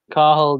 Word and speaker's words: Cathal: So no T in Thiago, no T in Cathal, no T in Castle.